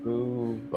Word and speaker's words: Fubo: Did I say it wrong at the end? Yeah, I heard Fubu just now, but that's... You might have Fubu'd it. Fubu. It's Fobo. Fubo. Fobo. Fubo. It's Fubo. Fubo Pro.